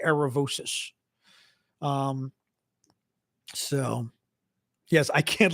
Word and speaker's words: Aravosis: your name on here aravosis is my last name well because I'm American so we say aravosis it is officially aravosis in Greek but for Americans we say aravosis um so yes I